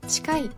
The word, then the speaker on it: 近い: は 7 掛けですお送り柄の良いをつけると近いと読みます年貢へ 7 回